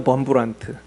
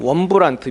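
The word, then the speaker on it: Wurmbrand: 리처드 범브란트, 뭐 원브란트, 뭐 이렇게 발음하는 분도 있는데 범브란트라고 흔히 나와 있어요.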